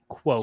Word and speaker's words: quokka: And I was waiting for someone from Australia to just phonetically spell it. Quokka.